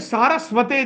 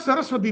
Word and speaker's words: Saraswate: He is Namaste Saraswate Devi. It is not Saraswati Devi, by the way. Devotees sometimes they pronounce Saraswati Devi.